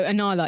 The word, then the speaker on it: Anala: So, Anala is spelled A N A L A. It's exactly how it's pronounced just in case you want to look look for that website.